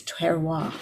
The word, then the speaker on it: terroir: as you've taught us to taste the wine, and it's terroir.